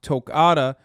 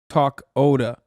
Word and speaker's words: Tokata: wrong heads up that toccata iron eyes is pronounced tokata not talk oda okay like they they